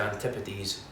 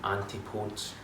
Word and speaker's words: Antipodes: haven't heard of them, you may have heard people calling them Antipodes. I can show you it's not Antipodes. This isn't even a case of tomato. That's completely the wrong pronunciation.